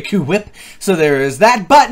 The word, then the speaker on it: HWYLA: That's how you say it, by the way, Kuwip.